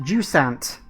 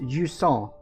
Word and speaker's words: Jusant: welcome to jua I believe it's pronounced jant we can call it jant if we want but I'm pretty sure it's pronounced jua uh cuz I believe it's a French word I'm not 100% sure